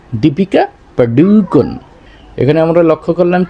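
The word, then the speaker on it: দীপিকা পাড়ুকোন: এটা মূলত উচ্চারণ হবে দীপিকা পাডুকন দীপিকা পাডুকন এখানে আমরা লক্ষ্য করলাম কি পারুকন হবে না পাডুকন ডয় রসুকারে এখানে এখানেও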